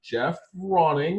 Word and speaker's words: Geoff Ronning: time uh i am lucky enough to have jeff rawing and hopefully i pronounce that right sir yes you did jeff ronning who runs uh i think a couple of